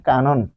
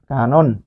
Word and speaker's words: কানন: এর পরে তারানে মাঝখানে স্বরে অ এর পূর্বে যখন স্বরেয়া পাচ্ছেন তাহলে এই ন হবে এই ন হবে নো এখানে লিখলাম নো তাহলে এইটুকু আপনি এনে